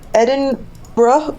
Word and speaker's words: Edinburgh: and yeah I I'm in Edinburgh which is apparently how you're supposed to pronounce it what are you doing